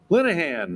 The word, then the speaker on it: Linehan: And to tell us about it is Patrick Linehan.